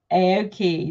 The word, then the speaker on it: Aaoki: Is it Aaoki? Yes. Aaoki, lovely.